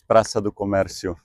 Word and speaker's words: Praça do Comércio: Give us the Portuguese pronunciation of this place before I butcher it. It's Praça do Comércio.